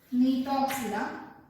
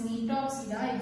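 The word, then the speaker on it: Gnetopsida: And for this Nitopsida, example is the Niton. You can see here the G is silent.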